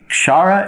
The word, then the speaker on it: kshara: here okay our chara so the word there's a k there so we're striving to pronounce it correctly k-s-h-a-r-a is the way it's transliterated and we come to akshara in a moment so shara is the changing one